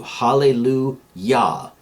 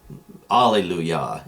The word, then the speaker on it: Hallelujah: But Hallelujah, with an A, like we would spell it out, H-A-L-L-E-L-U, Hallelujah. It's not Alleluia.